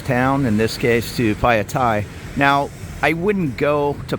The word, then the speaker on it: Phaya: And here we are, Phaya, or as the BTS lady pronounced it correct, Phaya.